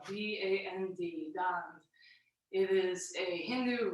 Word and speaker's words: Dand: That's spelled D-A-N-D, Dand.